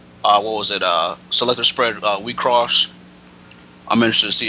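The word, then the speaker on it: WIXOSS: So yeah, I mean, like, yeah, it is spelled in all caps, but the X, is cross.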